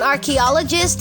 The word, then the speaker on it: archaeologist: archaeology in filipinos third syllable archaeologist archaeologists so it's simply